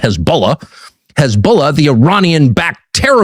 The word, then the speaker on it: Hezbollah: Hezbollah, or as it is often known uh on American television, Hezbollah, kind of the Kiev of pronunciations, people who know what they're talking about call them Hezbollah.